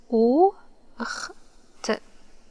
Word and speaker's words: أخت: Okay, how to pronounce it? O, ch, t, ocht, ocht, ocht.